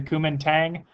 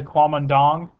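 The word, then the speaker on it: Kuomintang: sunat sin um and I've heard this pronounced a couple of different ways some people call it it's it's been angle sized The Kuman Tang um a lot of people call it the quam andong okay and that is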